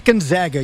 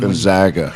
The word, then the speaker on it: Gonzaga: So it is Gonzaga.